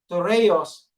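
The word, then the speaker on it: θυρεός: So shield in Greek word, ang basa po, ang pag-pronounce po ay tureos, meaning a stone or material employed to close a doorway, later a large oblong shield.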